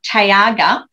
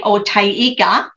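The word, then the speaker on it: taiga: But then Blair came from out the back and he went, oh, Tayaga. And I went, huh, what? And he said, Tayiga.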